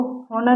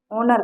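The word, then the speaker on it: honour: इसको होनर नहीं कहते, ओनर कहते हैं।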